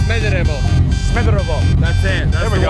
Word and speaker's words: Smederevo: You know, this is the town of Smederevo in American English way, but actually it's Smederevo.